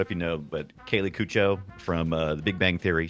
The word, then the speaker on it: Cuoco: Oh, I say it like she said Cuoco.